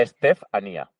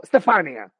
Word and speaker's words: Estefanía: O sea, podemos llamarte Estefanía. O Estefanía. Podemos darte una pronunciación extranjera como Estefania. Estefania es maravilloso, es como me llamaban en italiano.